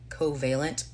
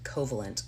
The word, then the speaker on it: Covalent: called co I want I'm gonna say this right hopefully covealent fingers crossed that's how you say it because I think I would normally pronounce it coalent but coalent wrestling podcast.